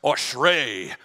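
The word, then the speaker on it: אשרי: It's pronounced ashrei, ashrei.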